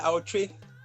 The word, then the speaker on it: Awotwi: This is the Scarab edition, and I have two amazing people with me, Zakiya Harris, Sh8peshifter, and Awotwi. Is that how I pronounce it? Yeah, Awotwi.